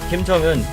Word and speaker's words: Kim Jong-un: Kim Jong-un, that's how you say his name.